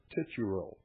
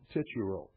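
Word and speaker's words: Titurel: I believe it's the young tituro. Ti t u r e l. The young tituro.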